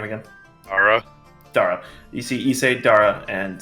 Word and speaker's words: Dara: God, Scythe, tell me how to pronounce the character's name again. Dara.